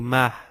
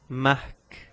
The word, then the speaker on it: Marc: seguida os apenas custo outro nome próprio mar mas eu não digo mar mas sim mark latão nomes próprios aí